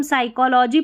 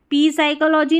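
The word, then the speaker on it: psychology: पी भी silent रहता है, जब पी और एस स्टार्टिंग में आता है, पी और एन जब स्टार्टिंग में आते हैं ना ऐसे स्पेलिंग्स में, कुछ एक स्पेलिंग्स रहती है, तो यहाँ पर पी साइलेंट रहता है। इसको हम साइकोलॉजी पढ़ेंगे, पी साइकोलॉजी नहीं, इसको निमोनिया पढ़ेंगे, ठीक है।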